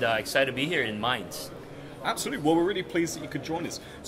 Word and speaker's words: Mainz: How do you pronounce it? Mainz. Mainz. It's Mainz.